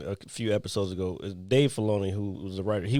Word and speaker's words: Filoni: But Dave Filoni is the one, and I said his name wrong a few episodes ago. Is Dave Filoni, who was the writer.